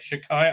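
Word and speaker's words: Shaddai: This one's called Shakai, right? Shakai. I can't say it properly. I'm saying a K instead of a D sound because uh uh one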